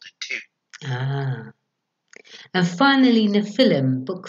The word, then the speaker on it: Nephilim: And finally, Nephilim, Book 5, and the most recent story introduces